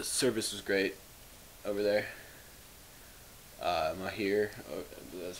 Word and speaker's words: Mahir: Mahir, that's how you say it.